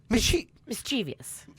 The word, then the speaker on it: mischievous: Mischievous.